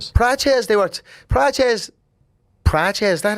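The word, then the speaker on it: Procházka: Prochazka, they were Prochazka Prochazka, is that how you pronounce that?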